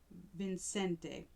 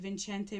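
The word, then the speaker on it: Vicente: permanent settlements at So Vincente. I said vincente before using a little bit of a Italian pronunciation but here we are Vincente.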